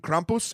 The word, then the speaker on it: Krampus: The myth and and the legend behind Krampus and and uh I'm saying it like that because Kristoff Waltz on the internet taught me that's how you say it.